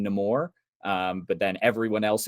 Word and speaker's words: Namor: backstory um he he Tyler mentioned this he pronounces his name nemour um but then everyone else in the movie pronounces it Neymar um so so it's so weird for me